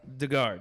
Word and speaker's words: de Garde: fail all right so how did you pronounce this again the guard the guard that's right uh we would drink